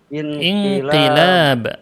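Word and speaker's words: انقلاب: Ini bacanya. Inqilab.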